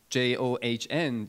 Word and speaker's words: Can: you know turkish name john is like you know j-o-h-n john but it's spelled as c-a-n in turks so it's turkish and you